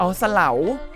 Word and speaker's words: เสลา: หลัง ด้วย ห๊ะ เอา เสลา โนนเสลา ผู้ ที่ อ่าน ผิด ขอ อภัย นะ ครับ อ่าน ว่า เส-ลา OO มี ผู้ เฒ่า